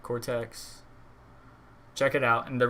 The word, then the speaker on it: Cortex: Or Cortez? No, there's no Z in it. All right, Cortex.